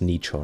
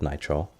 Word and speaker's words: Nitro Plus: And yes, it's pronounced Nitro, not Nitro.